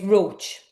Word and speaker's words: Roche: It's Roach. The spelling is very misleading when people look at my name.